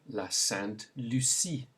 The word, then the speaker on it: la Sainte Lucie: Then we have la Sainte Lucie.